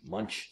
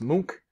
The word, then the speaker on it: Munch: let me know uh mook it's not pronounced munch it's mook you've probably seen this